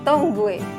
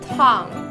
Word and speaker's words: tongue: Bukan my tongue, tetapi my tongue.